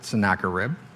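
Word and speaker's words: Sennacherib: name of uh sarib I actually look that up that's how to pronounce it sakar rib he surrounded Jerusalem and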